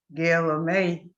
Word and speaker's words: Guillemette: But my last name, Guillemette, they pronounce it in French as Guillemette.